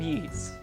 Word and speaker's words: Ys: That's just Final Fantasy II and Wanderers from, I always want to say Wise. I know it's not Wise. Wanderers from Ys. I think that's how you pronounce it.